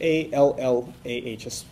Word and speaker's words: Allah: That would be spelled in English A-L-L-A-H, an emphasis on the L, okay, Allah.